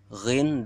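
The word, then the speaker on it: غ: Kemudian yang keempat, keluar dari ujung kerongkongan, lebih dekat dengan mulut. Mana nomor 4? Ini, yaitu huruf ghin dan kha.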